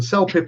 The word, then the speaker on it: CELPIP: So let's stick with CELPIP. And CELPIP is the right pronunciation.